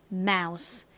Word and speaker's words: mouse: 있는이 단어와 거의 똑같죠 가장 앞에 있는 자음만 다른데요은 미음 소리가 나죠 그리고 유는 아 소리 끝에 s n 역시 스 소리가납니다 마우스 미키 마우스 할 때 그 마우스라고 말씀을 드렸는데요 의미가 뭔가요를 의미하는 단어